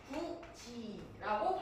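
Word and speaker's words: 굳이: 굿이 이거를 구지라고 발음하는 게 대표적이죠. 여기서 또 이렇게 질문하는 거 있어.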